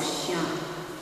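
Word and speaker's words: shyaam: S-H-Y, so Sham. S-H-Y. And long A. Sham is with the M resonating in the third eye.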